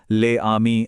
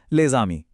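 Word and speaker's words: les amis: तो हम ले आमी अलग अलग नहीं बोलते, बल्कि एक साथ बोलते हैं लेजामी।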